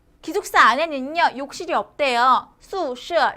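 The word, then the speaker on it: 宿舍: 뭐뭐 더 화라고 기억해 주시면 훨씬 더 좋다라는 거 기억해 주시면서 마지막으로 중국 학교의 기숙사는 어떻게 발음된다? 宿舍 라고 발음이 된다라는 거 발음 연습이 많이 필요로 합니다. 宿舍 라고 해주시면 됩니다.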